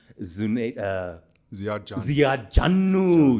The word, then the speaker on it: Ziad Jannu: His name was Ziad Jannu. You have to say it like that.